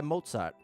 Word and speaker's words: Mozzart: Creator who goes by Mozart mozz like mozzarella but pronounced more like the composer shout out to Mozart